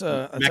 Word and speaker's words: McAtee: talk about with, I don't know how to pronounce his last name, but David, his nickname is Yaya. McAtee. That's is- Irish. That's McAtee. Irish too. McAtee. Yeah, McAtee.